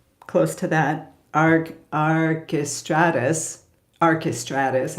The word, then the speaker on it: Archestratus: to that AR aristatus archestratus I guess would be the English pronunciation who lived in Italy